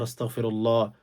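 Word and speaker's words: أستغفر الله: বসে ৩ বার ইস্তিগফার, আস্তাগফিরুল্লাহ, আস্তাগফিরুল্লাহ, আস্তাগফিরুল্লাহ, আস্তাক বলবেন, আস্তাও গইন উচ্চারণ করবেন।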